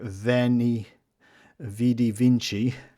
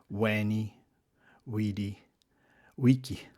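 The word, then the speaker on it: veni, vidi, vici: Uh and next time you hear veni vidy vinci uh you can you remember it should be pronounced weni w weedi wiki which people might find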